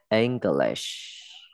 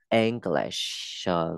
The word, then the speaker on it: English: English, đọc là e, không đọc là in, không đọc là i nhá. E đấy, English, cuối.